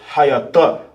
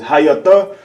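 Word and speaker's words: היתה: The pronunciation for was in the Hebrew is hayatah. Hayatah. Right? Was in the Hebrew is hayatah.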